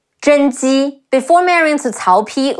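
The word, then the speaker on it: 甄姬: In Dynasty Warriors, also known as Zhen Ji, Zhi En Zhen. Ji Yi Ji, Zhen Ji.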